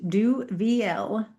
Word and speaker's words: Duvieilh: Yeah, so first of all, the last name is pronounced Duvieilh. So just like the Do letter V and the letter L.